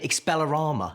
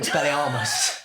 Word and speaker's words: Expelliarmus: People who should know better say Expelliarmus instead of Expelliarmus.